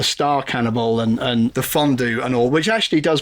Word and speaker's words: fondue: Here, you have fondue that's supposed to rhyme with stew and crew, and it does that job perfectly fine. Why do you deliberately mispronounce it fondue so that it doesn't rhyme with either of those two words?